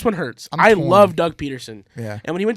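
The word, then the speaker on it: Pederson: name wrong you yeah it's Peterson it's it's because it's spelled with a d Patterson peton you're used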